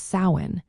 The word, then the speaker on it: Samhain: In Irish Gaelic, sawin is pronounced as sin. The first syllable sao rhymes with cow. This is the most common pronunciation you will hear in Ireland.